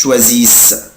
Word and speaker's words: choisissent: vous choisissez، بس مش بنطق الاي اس اس او ان تي، مش بنطق الاو ان تي، بقولها كده ils choisissent.